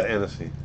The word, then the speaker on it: Annecy: So you were saying Annecy Film Festival. Is that how you pronounce it? Yeah, Annecy.